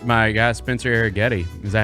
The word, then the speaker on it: Arrighetti: It's my guy, Spencer Arrighetti.